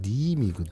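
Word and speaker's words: 新見: 신견. 그게 일본어 발음은 니임이거든.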